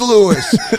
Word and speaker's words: Lewis: watch his family at be like it is Lewis you the bigheaded idiot got